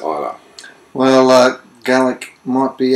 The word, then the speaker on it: Islay: imaginatively named Isa uh many folk say uh pronounce it islay if they don't know better but the Scots pronounce it Isa well uh GC might